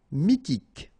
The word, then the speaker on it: Mythique: Mythique. Remember, Q-U at the end, K, okay? And then Y is pronounced like I. Mi, H is not pronounced. T, K. Mythique.